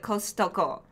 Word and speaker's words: Costco: it directly right but costco yeah in japan because there's a tea in it yeah we call it kostoko yeah it drives me